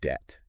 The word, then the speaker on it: debt: So a good example is the word debt. Okay. So that B was actually added to align it with the Latin debitum. Oh, okay. But it was never pronounced in English.